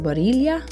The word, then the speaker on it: Barilla: Not only that, I came across these Protein Plus spaghetti noodles from, I think it's pronounced Barilla.